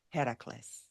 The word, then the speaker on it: Heracles: by the name of Hercules or as the Greek would pronounce it Heracles as is often the